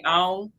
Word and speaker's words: Alton: We got an area called we it's it's spelled Alton but we don't say the T we say on you know we actually don't even say the L now that I said it out loud.